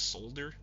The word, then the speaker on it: Solder: It's spelled like Solder, but they call themselves Solder.